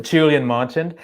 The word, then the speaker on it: Julien Marchand: So my name, as you said, you pronounced very well, Julien Marchand, and I'm a part-time academic in entrepreneurship.